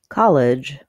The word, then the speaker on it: college: comom presents how to pronounce college versus collegial in college the first syllable is stressed College the clear vowel